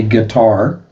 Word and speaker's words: Qatar: Bahrain, Kuwait, Oman, Gutter, also pronounced guitar as in the musical instrument. A guitar, that's the proper pronunciation.